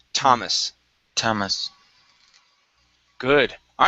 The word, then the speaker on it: Thomas: uh this name okay instead of Thomas it's Thomas it's probably one of the only times we don't pronounce that th okay it's Thomas Thomas good all right